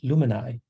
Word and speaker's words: Luminai: decided to call ourselves luminai okay for those of you wondering how to pronounce it it's like it rhymes with you and i illuminate we do have some